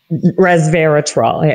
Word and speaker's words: resveratrol: years ago for uh reserve how do you pronounce it reserve retal was averted resveratrol exactly didn't you have a company and then